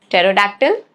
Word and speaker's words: pterodactyl: Rule number one, it is silent in the combinations PS, PT and PN at the beginning of the words. Okay? Like psychology, pterodactyl, pneumonia. Okay?